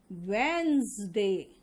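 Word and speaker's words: Wednesday: Poison, cousin, wizard, and इसका pronunciation होगा वेंसडे। Veins, वेडनेस नहीं, वेंस।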